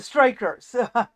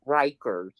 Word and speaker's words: Rikers: The Strikers. No, Rikers.